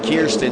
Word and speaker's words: Kirsten: Yeah, that's Jax Rowe out of Ottawa, Tennessee, followed by Cash McClure, and then Kirsten Hasty, because Kier rhymes with beer.